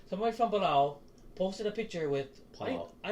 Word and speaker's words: Palau: Somebody from Palau, sorry, it's not pronounced with a P, it's pronounced with a B. Somebody from Palau posted a picture with I don't even know fucking what kind of fish it was.